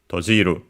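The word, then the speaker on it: 閉じる: In this case, we have first and foremost tojiru, as I said, and yes, it's accented on, is accented, and so on the ji, tojiru.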